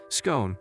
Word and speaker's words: scone: cake in the world scone which only works if you pronounce scorn so it sounds like gone i pronounce it like comb it took me 20